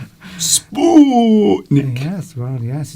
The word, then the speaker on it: Sputnik: See, now you're overpronouncing the U. Sputnik. Sputnik.